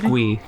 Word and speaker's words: GUI: Pronounced GUI.